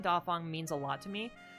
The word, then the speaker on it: Dàfāng: kind of for everyone I don't like being called fang because um like I've been uh mentioning uh my name is pronounced daong uh and the name